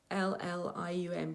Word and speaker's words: psyllium: It's spelt Psyllium, but pronounced psyllium.